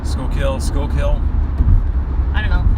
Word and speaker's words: Schuylkill: it's schuylkill school kill smoke kill school kill school kill i don't know i guess people say it's like school like going to school you know high school school kill like fish kill yeah push kill new